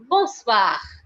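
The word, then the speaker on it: bonsoir: next one is guys b-o-n-s-o-i-r which is pronounced as days boswa boswa which is good evening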